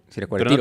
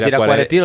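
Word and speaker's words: Ziracuaretiro: Siracuaretiro. Pero no tiene el acento en la e. Pues no sé. Los de siracuaretiro le dicen siracuaretiro.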